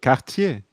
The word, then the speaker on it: Cartier: You got to put emphasis on Cartier. No, I do. Cartier. That's how it's said.